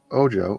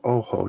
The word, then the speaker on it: Ojo: Also, Ojo or Oho, depending on how you want to pronounce it.